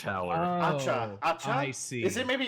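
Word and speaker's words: Acca: my name is H, but with the Italian pronunciation. The whole. Okay. No. All right. They're just named letters of the alphabet. Okay. A Howler, B Howler, yada yada. We're now on H. H Howler. Acha.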